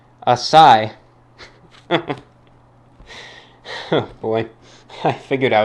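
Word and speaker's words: açaí: on the pronunciation the is pronounced a sigh oh boy I figured I was wrong with that one a Sai all right that makes a lot more sense instead of a Kai figured there' be no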